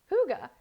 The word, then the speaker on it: hygge: how to say hygge that is how you pronounce hygge the hygge blend okay so you are never